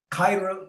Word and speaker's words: khair: It's a 1-syllable word beginning with the KH sound. Kha. Say it again. Khaira wali. Yeah. Yeah. Khair. That's right.